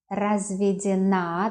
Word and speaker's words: разведена: Итак, я разведен, the stress on ё, я разведен. Я разведена, разведена, the stress on the last syllable.